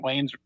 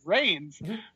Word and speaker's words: Reigns: than Roman Wayne's actually pronounced Roman reigns okay all syllables words are